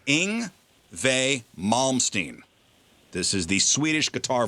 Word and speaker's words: Yngwie Malmsteen: WV, the German pronunciation of the W is insane. Because it's YNGWIE MALMSTEEN.